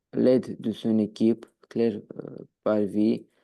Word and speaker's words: parvint: Parvint, Parvint. Toi, tu m'as dit parvient. Du coup, parvint.